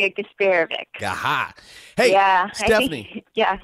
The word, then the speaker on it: Garsparovic: It's Stephanie Garsparovic. How'd I do, Stephanie? That was pretty good. All right. It wasn't too bad. We've heard worse. How do you say it? We say it, Garsparovic.